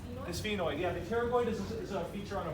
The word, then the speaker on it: pterygoid: been here we going the P is silent period we didn't I